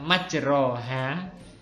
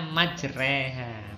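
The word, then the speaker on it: مجراها: contohnya jadinya seperti ini tulisannya itu adalah majroha majroha Tapi bacanya majreha majreha ini gak ada dalam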